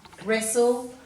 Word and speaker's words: wrestle: day 2 page, and all these words have a silent W with them, and we usually see a silent W before an R, as you'll see in all these words.